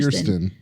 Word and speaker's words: Kirsten: Is it Kristen or Kirsten? Kirsten.